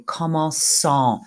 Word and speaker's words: commençant: Commencer, nous commençons avec un cédia, et le participe présent, c'est commençant. We need to keep the cédia there to keep it a soft C.